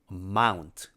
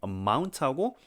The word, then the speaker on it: amount: 근데 액센트가 amount 여기에 있고 amount하고 여기 연음이 있네요. T하고 O 근데 amount에서 T는 묵음이기 때문에 amount 이 N이랑 이어주는 거예요 사실은.